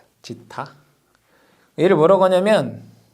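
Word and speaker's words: ζ: 그럼 여기에서 중요한 게 지타를 뭐라고 하냐면 얘 지타라고 읽어요. 지타.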